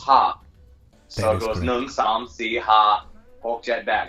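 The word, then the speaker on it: ห้า: last because the the number five is pronounced pronounced ha so it goes jet back guys this is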